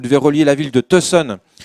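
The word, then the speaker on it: Tucson: relier la ville de tson à la ville de Las Vegas il paraî que ça se prononce ton par ah d'accord ave avec l'accent du Nevada tu vois et et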